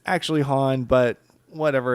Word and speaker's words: Han: So I definitely noticed in the original trilogy that the only person in the universe to pronounce Han's name as Han was Lando.